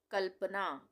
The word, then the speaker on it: कल्पना: क्यों पढ़ रहे हैं कल्पना? क्योंकि आधे ल का उच्चारण हो रहा है यहाँ पे, तो हम पढ़ रहे हैं कल्पना। अगर हम यहाँ पे पूरा ल बना देते तो क्या पढ़ते हैं हम उसको? कल्पना। कल्पना हो जाता वो।